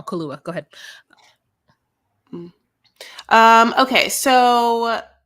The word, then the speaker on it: Kaluuya: I said his name wrong. Kaluuya.